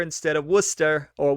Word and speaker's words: Worcester: you to those new englanders who corrected my pronunciation as i said it incorrectly uh i said warchester instead of worcester or worcester i don't take offense and i'm trying at